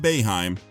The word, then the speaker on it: Boeheim: Coach Jim Boeheim (note for VO: pronounced BAY-HIME) of Syracuse University, was one of the college coaches who made efforts to recruit Anthony.